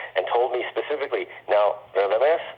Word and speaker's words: Radames: And invited the director over for dinner party with some other friends and stuff, and told me specifically, now, Radames, this is a Russian pronunciation, Radames, you should be upstairs,